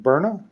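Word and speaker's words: Byrna: lethal pistols like the one from forgive my pronunciation Burna b y r n a you can still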